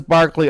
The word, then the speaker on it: Berkeley: And the British guy says Berkeley, I'm going to say Berkeley. Even though it's spelled like Berkeley, which is the college in California.